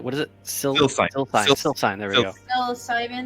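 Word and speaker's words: Sylcyne: Cycline. What is it? Silsine.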